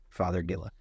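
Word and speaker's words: Fothergilla: yeah okay well love this plant yeah uh father Gilla don't don't listen to me it's not Daddy but father f o t h r pronounced father father Gilla uh not native that's fun yeah yeah that's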